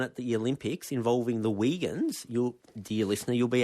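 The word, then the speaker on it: Uyghurs: And by the way, even though it's called Wagans, it's spelled different. It's spelled more like Well, it's spelled exactly like U Y G H U R.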